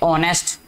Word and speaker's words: honest: ऑनेस्ट, ठीक है, HONEST, ऑनेस्ट. ठीक है, एच नहीं इसमें बोला जाता, एच जो साइलेंट है.